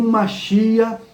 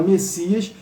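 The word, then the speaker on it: Mashiach: Então o masia, masia você pode falar Messias para facilitar, né? Mas o nome, a pronúncia seria correta seria essa.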